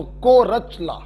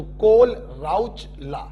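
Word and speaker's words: Kohlrausch: है सुनो बच देखिए अगर एच और एल साइलेंट कर दिया तो को रचला और अगर सिर्फ एच को साइलेंट किया तो कोल राउचर जिसको जैसे पढ़ना हो वैसे पढ़े अंग्रेजी है अलग-अलग लोग अलग-अलग तरीके से पढ़ते हैं कोर चला भी पढ़ते हैं और कोल राउ चला भी इसको पढ़ते हैं कोल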